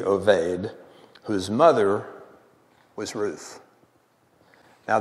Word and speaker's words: Obed: Now I'm going to call him the Hebrew pronunciation of Obed is Oved, O-B-E-D, Oved, whose mother was Ruth.